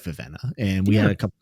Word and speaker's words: Vivenna: I actually thought there was a lot more Vivenna lovers out there. And I'm calling her Vivenna. I'm not calling her Vivina. I don't care, Sanderson. Spelled with two E's, okay?